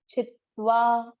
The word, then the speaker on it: छित्वा: आप एक उच्चारण कहीं आप नहीं, मतलब काफी लोग इसको छितवा बोलते हैं, ये छितवा नहीं है। एक त छी के साथ बोले छित, और एक आधा त वा के साथ बोले त्वा, छित त्वा, मतलब ये शब्द बनेगा इस तरह से, छित और धन त्वा, ये दोनों त आधे हैं और दोनों का उच्चारण आना चाहिए, छित्वा।